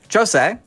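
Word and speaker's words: José: And for the record, it is Jose, because it's the Portuguese pronunciation, Portuguese Brazilian.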